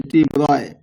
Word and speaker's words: de Broglie: In 1924, French physicist Principal Louis de Broglie, pronounced as de Broglie, made a remarkable proposal about the nature of matter.